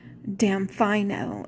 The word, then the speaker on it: Damfino: It's spelled Damfino, and it's pronounced Damfino, and that's the name of his boat.